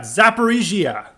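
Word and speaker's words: Zaporizhzhia: we've got Lou gansk the third we got zapparigia I was worried about pronouncing that one lastly because I was like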